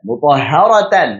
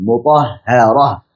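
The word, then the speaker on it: مطهرة: Ya, mutahharatan misalkan, maka bukan dibaca mutahharata, tapi dibaca sebagai huruf ha sukun, mutahharah. Nah, makanya menjadi suara ha sukun dibacanya mutahharah, bukan mutahharata. Rasulun minallahi yatlu suhufan mutahharah.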